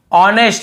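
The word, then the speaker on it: honest: एच नहीं पढ़ना है ऑनेस्ट बहुत से लोग नेस्ट ऐसे बोल देते हैं तो ये भी गलत है हमें केवल ऑनेस्ट पढ़ना है एच को नहीं पढ़ना है यहां प एच को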